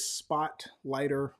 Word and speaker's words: Spotlighter: using for years is spotlighter with a r at the end Spotlight with an R pronounced spotlighter and you can go